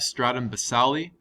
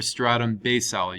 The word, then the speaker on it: stratum basale: layer of the epidermis we have stratum basale or stratum basale you can pronounce it either way the way that i